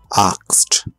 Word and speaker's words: asked: But a lot of time, the E is not pronounced. Looked. Asked.